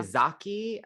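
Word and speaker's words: Ezaki: Izaki is how you say her name.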